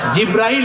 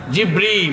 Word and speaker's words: জিবরীল: সেই ফেরেশতার নাম কি জিব্রাইল জিব্রাইল না জিবরীল জিবরীল একটু সঠিক প্রোনাউন্সিয়েশনটা আপনারা শিখে যান ওই ফেরেশতার নাম হচ্ছে জিবরীল ফেরেশতার নামটা কি জিবরীল